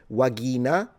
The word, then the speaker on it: vagina: The V is a W and the G is a G. So pronunciation is a little different. You would pronounce this vagina, but you know what I mean.